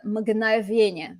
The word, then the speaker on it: мгновенье: And it's neuter because it's describing the мгновенье. Мгновенье. For those English speakers, this is a fun consonant cluster to pronounce. Мгн. Так.